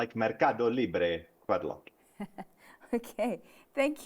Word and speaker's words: MercadoLibre: So, Zenati, you need to say it with the Spanish accent. Okay. Mercadolibre.